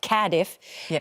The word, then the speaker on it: Cardiff: We started in Okay, they they taught me how to say this properly. Cadiff.